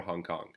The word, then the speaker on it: Hong Kong: then we have Hong the H is silent that so we sayong Kong for Hong Kong H is silent Kong